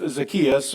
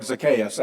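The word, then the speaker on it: Zacchaeus: The the scholars is probably more like Zakayas actually but everybody sort of knows it as Zakius right? We've all been taught that way.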